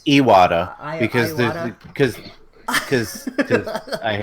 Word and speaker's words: Iwata: he water not now Iwata I thought right isn't that the correct pronunciation it is a water because this cuz cuz